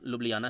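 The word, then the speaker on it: Ljubljana: इसकी इंग्लिश में जो स्पेलिंग है काफ़ी डिफ़िकल्ट है और प्रोनाउंसिएशन की दृष्टि से काफ़ी चैलेंजिंग माना जाता है। ये इसका एक्चुअल प्रोनाउंसिएशन लुब्लियाना है, ये आपको ध्यान रखना है।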